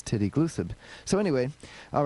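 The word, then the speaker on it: tideglusib: Tide Glucib is how I would have said it, but in England they say everything literally, so they say aluminum aluminium. And he says titty glucid.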